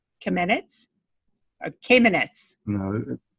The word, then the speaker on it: Kamenetz: Or Kamenetz? No, it's not. No, it rhymes with cabinets, so it's Kamenetz.